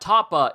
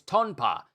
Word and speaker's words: Tonpa: Ah, it's not Tapa. It's Tonpa.